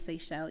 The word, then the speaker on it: Seychelle: And my name is Seychelle, and so if you need me to spell that for you, that's S as in Sam, EYCHELLE.